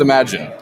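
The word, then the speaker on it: Imagen: Okay, I know what the product is, but I don't know exactly whether it's Imagine or Imagine. Apparently it's Imagine.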